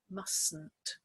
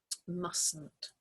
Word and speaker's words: mustn't: when we say mustn't this T in the middle we don't pronounce it so we just say mustn't mustn't so again it's a